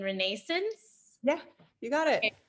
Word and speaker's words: Renascence: If all that wasn't enough, her debut musical, correct me on the pronunciation, Renascence.